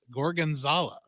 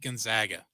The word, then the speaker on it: gorgonzola: favorite things was, and I finally learned how to pronounce it after like 4 times, gorgonzola. And I would always call it, I'll take the steak Gonzaga.